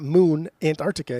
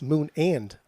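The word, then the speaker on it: The Moon & Antarctica: I said It's not Antarctica. It's not Moon Antarctica. It's Moon and. That's what I said. I said I don't the think Moon and...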